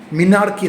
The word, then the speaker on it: menarche: যদিও এটার বানান হচ্ছে MENARCHE, আমরা কিন্তু এটাকে মিনার্কি বলবো না, এটা হচ্ছে মেনাকি। মেনাকি, আটটা উচ্চারণ হবে না, মিনার্কি না, মেনাকি।